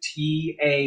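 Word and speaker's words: tá: So the T-A with that accent is pronounced ta.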